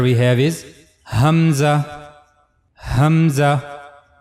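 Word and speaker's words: ء: is the letter Hamza The origin of this letter is the lowest part of the throat like the previous letter ha. So for pronouncing hamza you have to use the lower part of your throat. Hamza.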